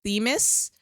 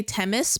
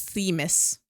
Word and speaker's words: Themis: I guess it's actually pronounced Tears of Themis, but I like to say Temis because that's what I'm used to. It's Themis.